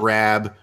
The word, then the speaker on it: Raab: people who are like Scott Raab whose name rhymes with scab and he's a big